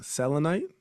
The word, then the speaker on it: selenite: But when I was snooping around on the site, one that jumped out at me is excuse me if I'm pronouncing it wrong, selenite.